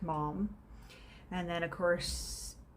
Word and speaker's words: Maugham: pronounced you know mom you would think oh it's moham or magum or something like that but uh no it is in fact mom and then of course